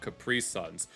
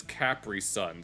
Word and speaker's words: Capri Sun: Uh we were always a Capri Sun uh family. We always bought Capri Suns. Although allegedly the real pronunciation is Capri Sun since it's a German company. So it would be Capri Sun.